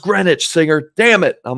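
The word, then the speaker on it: Greenwich: so that was it I said I said green witch right cuz that's just how it looks someone got so mad in the YouTube damn it singer it's green it's it's pronounced grenwich singer damn it I'm like oh I'm sorry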